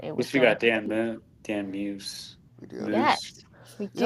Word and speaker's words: Muse: Yeah, Muse. Muse. It's not Moose.